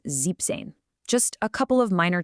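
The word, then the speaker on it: siebzehn: For 16 and 17, the original numbers get shortened just a little bit to help them roll off the tongue. So z becomes zen and zeben becomes zipane.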